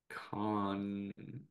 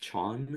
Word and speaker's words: Cannes: But Megalopolis was revealed to be screening at Con this year. So hey, I'm sorry. Can. There we go. Chan chan. Chan. Ch it's pronounced Chon. Yes, it's Chon. Chon. Chon Film Festival, duh.